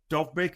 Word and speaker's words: Dovbyk: They even tried a striker swap at the last breath almost of it, where I think Dovbyk, I think it's pronounced, the Ukrainian forward at Roma, was going